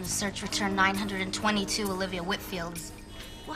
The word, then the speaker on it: Whitfield: next week and just wanted to get the pronunciation of her last name correct it's Whitfield Whitfield well that's what I thought and how